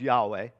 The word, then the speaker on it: Yahweh: it is called uh that ends up being pronounced yahweh and that's how jesus responds so why did